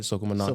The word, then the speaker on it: Soca Monarch: Soca Monarch Soca King.